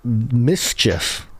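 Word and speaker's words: MSCHF: Mischief, spelled without the any vowels.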